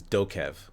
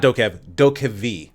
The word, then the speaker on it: DokeV: f this game is dokev oh no i'm sorry not doka v i've been saying it wrong that whole time have you heard of